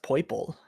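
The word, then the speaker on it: Poipole: But Pheromosa is I think it's pronounced Poiple. Like it's like saying a cute version of purple.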